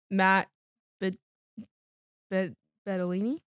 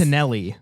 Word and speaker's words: Bettinelli: So, one of my fun facts: the voice of of Justin is the director, Matt Bettolini. It's the last fun fact. Matt Bettolini. That's what I s- Bettinelli. Bettinelli. Bettinelli. Sorry.